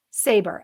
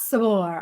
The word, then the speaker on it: Saber: Like saber-tooth tiger. All Totally right, so fine. last name Saber, Saber, not Sabor.